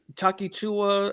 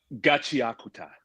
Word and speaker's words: Gachiakuta: Chakia, it's Chakichua. I think that's what it's got the weirdest name and pronunciation.